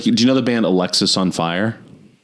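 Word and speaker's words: Alexisonfire: Like, do you know the band Alexis on Fire? Yeah. But like it looks like Alex is on fire. Oh, I've always thought it was Alexis. It is. It's pronounced Alexis, but it you could also see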